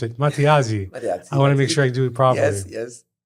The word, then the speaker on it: Matteazzi: I never asked you how to pronounce it. Matteazzi.